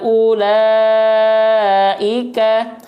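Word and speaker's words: أولئك: apa fungsinya di sini ini disebut dengan wau ziadah ya wau tambahan ya jadi dari segi penulisan dia harus ada tapi dari segi pelafalan dia enggak perlu dibaca gitu ngenti enggak ya disebutnya ee Wau ziadah Wau tambahan ya jadi seolah tidak ada aja Ula enggak dibaca panjang karena bukan wau sukun ya Ada sukunnya enggak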